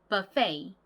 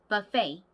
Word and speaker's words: buffet: 어원이 프랑스어인데 얘도 아까 발음했던 카페와 비슷하게 끝 발음이 페가 아니라 페이 이렇게 발음이 됩니다. 그리고 앞에 발음이 비페 비보다는 버 발음이 나요. 그래서 buffet 이렇게 발음해 주셔야 됩니다.